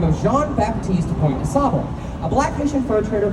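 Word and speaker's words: Jean-Baptiste Point du Sable: Now, to properly pronounce his name, it would be Jean-Baptiste Point de Sable, if you're pronouncing at least slightly correct.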